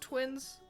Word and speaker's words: Twiins: And it's just Twiins. Just Twiins. Just read it like the word twins.